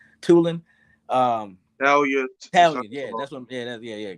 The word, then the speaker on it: Tulane: Tulan. Tulane.